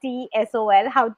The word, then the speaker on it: TSOL: She's certified in TEFL and TSOL. I mean, do you pronounce it as an abbreviation?